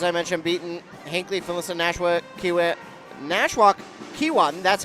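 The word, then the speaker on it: Nashwauk-Keewatin: they have as I mentioned beaten hankley phis Nash Ki nwok kwat that's how you say it and northeast range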